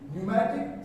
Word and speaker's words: pneumatic: And in pneumatic psychology, a receipt, P is silent.